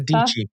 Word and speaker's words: Dici: Sarah Dici. Dici rhymes with peachy is the way she says it.